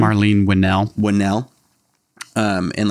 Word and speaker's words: Winell: how do you say your last name Marlene winnell winnell um and like learning about stuff like